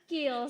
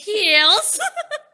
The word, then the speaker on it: Kiehl's: Apa ini bacanya, Kak? Kiehl's. Kiehl's.